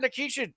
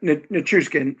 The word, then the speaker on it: Nichushkin: I mean, Nikishin, we could have got Nikishin. That's it. We have those assets. I mean, You mean yeah, Nichushkin Nichushkin.